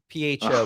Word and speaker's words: pho: Yeah, they call it pho. PHO, but it's pronounced pho.